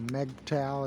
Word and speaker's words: MGTOW: to impress girls yeah it's an mg toe video or meg towel as people pronounce it i pronounce it mg toe because we towing them